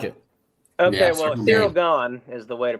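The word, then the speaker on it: Ciryl Gane: We have Alex Pereira versus this is not how this is spelled, but I'm going to pronounce it like this. Circle Gain.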